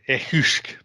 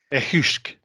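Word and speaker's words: each-uisge: Or in the Gaelic mother tongue, the echusk. Yeah. Say that word again. I didn't know how to pronounce it. Echusk. And spell it for the audience. Well, being Gaelic, it's transliterated to Eachuisge.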